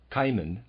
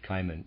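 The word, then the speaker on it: Cimon: you just one example kiman I'm going to pronounce that kiman c i m o n a well-known historical figure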